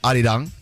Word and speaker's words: Arirang: It's Say Arirang. It's Arirang. Arirang. Okay. I don't want to mess it up, so I don't want to say it wrong. What's scary? Sorry. I thought it was Ari Rang.